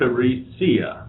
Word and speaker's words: Theresia: no one so um my first name actually is Dutch it's spelled with an i so it's t h e r e s i a so it's a little it's teresia yes but nobody call that